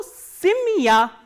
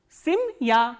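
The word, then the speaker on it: семья: So, again by the phenomenon of reduction, the sound of ye will be reduced.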